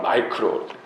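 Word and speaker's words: micro: 이 소자 보니까 소자니까 미크로 영어 발음은 마이크로 1000분의 1mm까지도 측정할 수 있는 이 계측기 마이크로 자 이런 거 있잖아요, 그렇죠?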